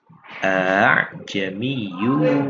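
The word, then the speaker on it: ءَأَعْجَمِيٌّ: Jadi hamzah yang kedua itu dibaca dengan tashil atau diringankan, jadi tidak bukan a'jamiyyu. Kalau umpamanya tidak ditashilkan maka kita membaca dengan dua hamzah yaitu a'jamiyyu.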